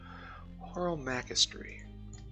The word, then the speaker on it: Horomachistry: Horomactry and Illumination. Horomachistry is the proper way to pronounce it.